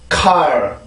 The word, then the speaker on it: car: 근데 한국어로는 카라고 발음을 하죠. 그죠? 자, 한국어를 먼저 해볼까요? 카. 영어입니다. car.